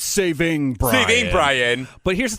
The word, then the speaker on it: saving: of like grammar police it's not savings Ryan it's saving here's the thing about grammar